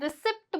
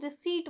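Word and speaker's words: receipt: फिर साइलेंट हो जाएगा जैसे कि आर ई सी ई आई पी टी इसे बहुत से लोग क्या बोलते हैं? रिसीप्ट बोलते हैं। रिसीप्ट बोलते हैं। वो रिसीप्ट नहीं होता। वो रिसीप्ट होता है। क्योंकि यहां पे पी क्या है? साइलेंट है। इस वर्ड को याद कर लो। बहुत से लोग गलती करते हैं। इसे रिसीप्ट नहीं बोलते। रिसीट बोलते हैं।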